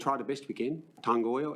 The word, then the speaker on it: Tangoio: the best we can tangoo is how I pronounce it and that's I can't